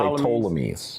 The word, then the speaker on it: Ptolemies: Usually people say Ptolemies. The Ptolemies. They don't usually pronounce the P. Okay, the Ptolemies.